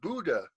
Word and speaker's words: Buddha: They're my butt up heads. Not butt up heads. Buddha. Well, it sounds like Buddha when you say Buddha. It's actually pronounced Buddha with a oo.